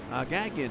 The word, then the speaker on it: Gagnon: As Knupp, Sutphin, Gagnon is actually how it's pronounced. It's French.